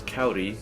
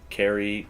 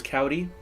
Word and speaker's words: Kauri: to pronounce it as kau D his phonetically spelled kou REE with a an R like a soft D in Spanish as a cavity and